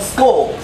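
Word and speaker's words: skoal: And over here is a toast to someone's health called Skol. S-K-O-A-L. It's like score, but actually S-K-O-A-L.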